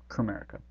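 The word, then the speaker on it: Komerica: A is lowercase and the K in Comerica. It's silent. It's actually the United States and Provinces of America, as in the United States of America. But it's pronounced Comerica. Just trust me on this one.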